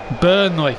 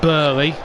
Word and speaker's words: Burnley: Burnley. Not Burley. It's B U R N E L E Y. Not Bley. Get the pronunciation right.